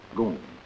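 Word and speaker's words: GUM: the state-operated department store the goon spelled g-u-m pronounced goon my visit to the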